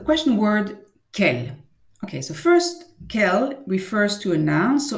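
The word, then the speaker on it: quel: you heard me perfectly we pronounce it exactly the same way kel only in the written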